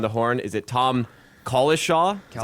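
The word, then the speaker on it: Cowlishaw: Is it Tom Collishaw? Is that how you say it? Collishaw.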